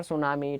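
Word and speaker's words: tsunami: तो each city and country, प्रत्येक शहर और प्रत्येक देश, वाज बर being रून्ड बाय द सुनामी, T silent है यहाँ पर, सुनामी, ठीक है।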